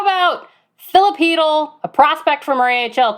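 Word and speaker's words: Chytil: How do you say his last name? Because I don't know. Hedl. Is it really Hedl? Yeah. It's Hedl.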